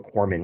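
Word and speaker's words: corpsman: A funny story is it the way corman is spelled out it's corpse men but you know the p is silent.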